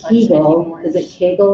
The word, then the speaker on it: Kegel: Yeah, but it's pronounced Kegel and it's Right. spelled with a K.